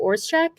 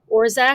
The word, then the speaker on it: Orzech: And then another name that I will mispronounce, Matthew Orzechek. I think it's Orzech. Orzech?